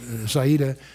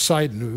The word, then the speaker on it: Sidon: I had a long discussion with an Israeli general about Saida, and it took me a while to realize that that's Sidon.